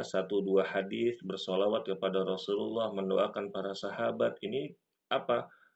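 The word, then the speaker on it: رسول الله: jabalin jabalin radallahu anhuna Rasulullah Rul bukan Rasullah Anna rasulallahi Anna rasulullahi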